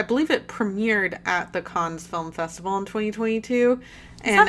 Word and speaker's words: Cannes: it premiered at the Cannes Film Festival in 2022. How's it pronounced? Cannes? Yeah. I think I said Cannes. It's Cannes. Cannes Film Festival. Uh It's French. You don't pronounce half the letters.